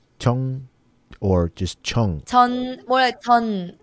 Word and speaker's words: 전: Yeah, it's about CH because the J is in the beginning. So in that case, it's hard to pronounce a soft sound. We make a medium hard sound. It's a CH.